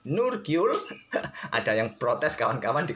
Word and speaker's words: Nurgyul: Saya lebih suka membacanya Nurigul kawan, karena lidah admin lebih gampang membaca Nurigul ketimbang Nurgyul.